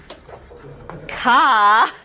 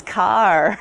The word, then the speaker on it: car: It's not ka, it's car. There actually would be an R there. And the Bostonians would not pronounce the R. It would be more of an H sound. Ka. It's your Boston pronunciation lesson for the day.